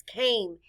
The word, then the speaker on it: came: The letter A stands for the long A sound, A. The E is silent. Blend with me. K-A-M. Came.